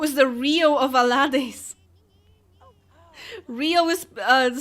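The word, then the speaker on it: Reo: Rio is spelled R-E-O, but yes.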